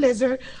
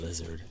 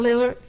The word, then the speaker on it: Lillard: And the Kia Western Conference Rookie of the Month was Damian Lillard of Portland Trail Blazers, averaging 18 points per game. How did I say his name? Lizard.